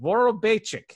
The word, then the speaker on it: Vorobeychik: Vorobeychik is how you pronounce that.